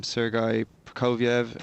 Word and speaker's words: Sergei Prokofiev: But at the moment, it stands Sergei Prokofiev, as you pronounced so well, is 9-4-5.